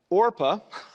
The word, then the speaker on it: Orpah: out differently and so orpah rap sorry i have to really think before i say her name think like oregon yeah she uh she